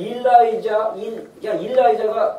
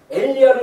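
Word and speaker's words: Elijah: 여러분들 일라이자가 엘리야입니까? 영어로? 엘리야인데 엘리야를 갖다가 이제 이렇게 발음 미국식 발음으로 일라이자라고 하는데 일라이자 체를 갖다가 딱 유튜브에 치면 몇 년생이죠 이 친구가?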